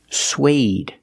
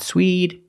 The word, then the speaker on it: suede: word this word is suede suede not Swede not sweat but suede using the long a like day and say suede suede is a material